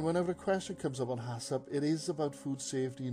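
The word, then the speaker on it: HACCP: and free from contaminants hasip that's why we pronounce it stands for hazard analysis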